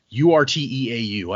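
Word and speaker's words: Urteau: their home city of ura. I don't know how you pronounced that. Oh, it's like I thought u because it's same spelling as the end of plateau.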